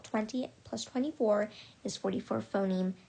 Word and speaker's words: phoneme: is called a phoneme i'm very sorry and i apologize about the pronunciation i had been i think a couple of times in the at the beginning of this video i mentioned um i pronounced it differently but the correct pronunciation for this term um which is the basic unit of sound in english um language is phoneme so the phone there